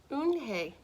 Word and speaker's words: Unhei: due here what's your name a girl asked oon hey said hey the girl asked scrunching up her